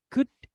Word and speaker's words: could: Kalau yang cold itu jadi could. Dah. Jadi O sama L-nya hilang.